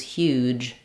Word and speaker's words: huge: Pouch or pooch versus huge. Huge, I'm going to have a little longer vowel.